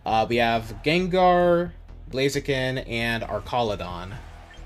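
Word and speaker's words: Archaludon: We have Gengar, Blaziken, and Arcaladon. Still does not sound right to me. It sounds so wrong saying that. But that's the correct pronunciation, apparently.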